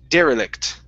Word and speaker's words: derelict: is pronounced derelict okay stress at the very beginning derelict derek good good all